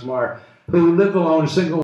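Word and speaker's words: Meagher: relationship, a wonderful woman, Sylvia Maher, M-E-A-G-H-E-R, pronounced Maher, who lived alone, a single woman in Greenwich Village, working at the United Nations.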